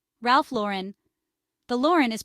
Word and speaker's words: Lauren: pronounce some popular American fashion brand names Ralph Lauren Ralph Lauren the Lauren is pronounced like low Ren not La Ren Calvin